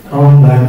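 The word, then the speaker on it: Roland Barthes: Okay, into the theoretical framework, we use the BART or Rolombac in pronunciation of the French because Rolombac is from France, so we say it in French correctly, Rolombac.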